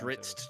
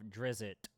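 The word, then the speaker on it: Drizzt: Or, as I like to pronounce it because I know it pisses you off, Drizzit.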